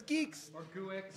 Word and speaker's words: Guix: sis with canoe geeks it's not pronounced wicks at all no you probably thought it was but it's geeks yeah it's not go